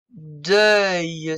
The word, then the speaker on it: deuil: Le deuil, c'est le œil de écureuil. Une bouillie.